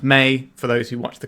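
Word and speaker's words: Mai: First, we have May Scornful Striker and is pronounced May.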